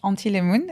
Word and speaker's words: anthilemoon: means absolutely nothing, but it's pronounced in French. Antilemoon is ANTHILEMOON.